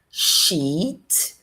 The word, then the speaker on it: sheet: Então, olha só, a primeira é sheet. Sheet. Não tenha medo de prolongar, de colocar a vogal longa. E a segunda é shit, vogal curta. E veja que esse i tá aqui, mas ele tem som de e.